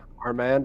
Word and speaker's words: Armand: Arand. Arand. Armand Armand. Yeah, it's like a man but with a little bit of pizzazz to it.